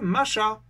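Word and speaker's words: משח: Oindre, le verbe kryo traduit l'hébreu macha, prononcer le sh final dur, qui signifie bien oindre avec de l'huile.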